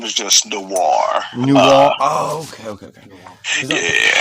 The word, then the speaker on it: Noir: dive into uh Mr Christian no's life or Noir I keep saying it wrong sorry about that you're